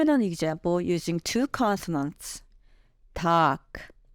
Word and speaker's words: 닭: In this particular case, 닭 is pronounced as 닭, following the second consonants.